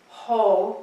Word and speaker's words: ho: So the first movement is ho, like ho, ho, ho, but we say ho, H-O.